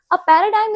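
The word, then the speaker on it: paradigm: इसमें 'g' silent है। इसलिए उच्चारण में इसे प्रतिमान कहा जाता है। ठीक है? प्रतिमान। पैराडाइम सॉफ्टवेयर विकसित करने के लिए उपयोग की जाने वाली एक शैली या दृष्टिकोण है।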